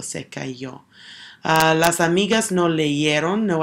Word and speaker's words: leyeron: If I were pronouncing that, it would be leyeron, and it's still making that same sound that the Y is.